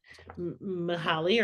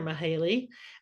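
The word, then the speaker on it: Mihály: and still can't but the first name is m i h a l y mahali or mahale and then the last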